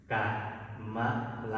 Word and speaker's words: กมล: อ่าน ยัง ไง บ้าง ใคร อ่าน กมล บ้าง กมล เนี่ย เป็น ภาษา ไทย แต่ ถ้า เป็น ภาษา บาลี จะ ออก เสียง ยัง ไง เป็น สระ กะ มะละ เห็น มั้ย กะ มะ